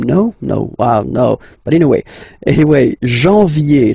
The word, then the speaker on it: janvier: But anyway, janvier, so that's the way to pronounce it. Janvier, A-N, en, okay? And then ye, janvier. Then comes février, okay?